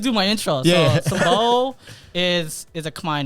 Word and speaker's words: Sambo: Yeah, it's pronounced Sambo. So I guess I'll just do my intro. Yeah. So Sambo is a Khmer name, obviously.